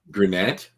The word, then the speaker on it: Granat: Granat? Granat. So the Granata. I would say that's pronounced Granat.